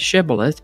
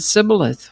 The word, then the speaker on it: shibboleth: The Gileadites pronounced the word with the SH sound, shibboleth, but the Ephraimites pronounced it sibboleth without the SH sound.